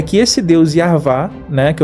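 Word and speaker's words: Yahweh: de Deus né mas ele tem uma pronúncia e essa pronúncia se você estudar como ele tem um livro explicando como que se pronuncia o nome dele seria yar vá né esse Deus yar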